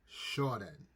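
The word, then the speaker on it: Qiaodan: So it's pronounced, it's spelled Qiaodon, but they pronounce it as Qiaodon. Okay? And so the pronunciation is CHEE-OWDAHN. Qiaodon.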